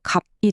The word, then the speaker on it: 값: 갑에서는 비읍시옷 중에 시옷이 없어져서 갑이 되고요.